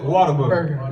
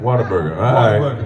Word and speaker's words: Whataburger: thank you like you like to mispronounce things here in Texas yeah water bear burger but we call it water booger Whataburger you're going to have